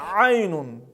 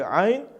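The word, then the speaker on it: عين: Буква айн произносится из середины горла, является верхнефарингальной, является щелевой и звонкой. Мы сжимаем горло, через небольшую щель проходит воздух с участием голосовых связок. Эта буква является твердой, читается через А.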